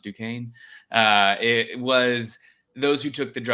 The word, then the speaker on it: Duquesne: And the only pharmacists at my university who did, which we learned is pronounced Duquesne, it was those who took the drugs of abuse class.